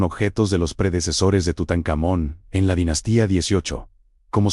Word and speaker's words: Tutankamón: Egipto Tebas, actual Laxe, la pronunciación más común del nombre de este faraón, Tutankamón. Es una convencionalidad artificial conocida como pronunciación egiptológica, que no debe ser confundida con como la lengua egipcia era pronunciada realmente en su época.